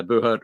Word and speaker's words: Buhurt: search for is it Buhurt? How's it? I know it's spelled like BUHURT, I believe. Yeah. So it's BU Hurt. BU Hurt. Yep. That's you be hurt.